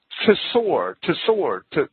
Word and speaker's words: Tsor: the same Hebrew word, Tsor, T-S-O-R. It's a difficult word to say while still pronouncing both consonants, T and S.